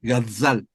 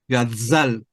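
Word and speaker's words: גזל: para que sepas solamente Entonces se pronuncia gazzal como una abeja gazzal gazzal eh se traduce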